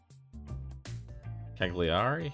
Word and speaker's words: Cagliari: it's maybe down here cagliari is how it's pronounced we're the biggest one